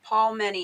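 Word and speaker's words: Palmini: Paul, like the palm. So it's Paul Mini.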